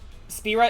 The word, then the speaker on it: Spyra: isn't even my character you didn't call her spyro spyra yeah it's like if you don't have uh the audio uh uh the audible uh pronunciation for it it's like you have to make your best guess and more often not that's wrong oh spira is correct most people call her spyro though oh oh attention divided